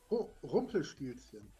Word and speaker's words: Rumpelstilzchen: It's what's the pronunciation, Frank? Rumpelstilzchen. Rumpelstiltskin.